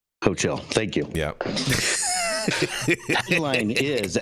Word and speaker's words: Hochul: Jason, how do you pronounce the governor's last name there? Hochul. Hochul.